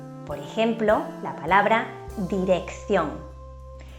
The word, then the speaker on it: dirección: vocales E o I, la primera C se pronuncia de forma fuerte, como una K, mientras que la segunda C se pronuncia de forma débil. Por ejemplo, la palabra dirección.